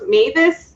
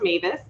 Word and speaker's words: Mewes: the bedroom from the mavis family we understand to pronounce mavis it's m-e-w-e-s and uh our apologies